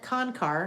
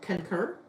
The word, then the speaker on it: Concar: And then Concar now, a little bit easier to pronounce, but sometimes you get concur. No, not concur. I concur. I do not concur. It is not concur. It's Concar.